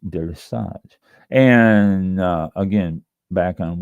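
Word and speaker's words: délestage: It's pronounced deis. D E L E S T A G E Dage, not daily stage, deris.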